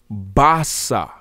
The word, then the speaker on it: basa: is calling our best a-a-b-e-s would actually be pronounced basa basa and isis zulu and this bossa b-a-s-a